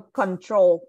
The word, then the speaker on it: control: So control. So the stress is on the second.